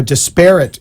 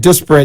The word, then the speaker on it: disparate: discriminatory impact or a disparate impact against that Minority I know I've been pronouncing it disperate and you've been giving me a hard time yeah you you corrected it uh you was hoping